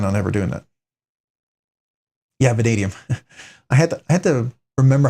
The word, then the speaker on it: vanadium: Vanadium. Vanadium. Why don't I pronounce it vadnium?